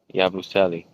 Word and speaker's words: Yabusele: Yabusele.